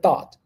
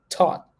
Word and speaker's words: thought: thought yeah so listen even though we start with a th there we can either say th th thought or to like a t t sound to taught I taught I taught I taught